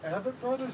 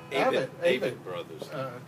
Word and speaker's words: Avett Brothers: This is a song, I don't know if you pronounce it, is it Abbott Brothers or Avett Brothers? Avett Brothers.